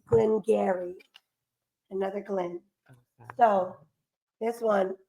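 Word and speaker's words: Glen Garioch: guys the extra words Gary garok is how it looks it look like Gary it does Gary is silent o h it's not there Gary it's Glenn Gary another Glenn so this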